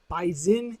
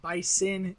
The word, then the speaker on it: Bison: Dakota State bisen yes bisen is the way they say it bison is obviously the way everyone else says it I just say it the way that the locals say it North Dakota State